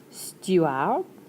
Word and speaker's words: steward: things that fly Le steward. You don't get to pronounce the D, so stew - ar(d).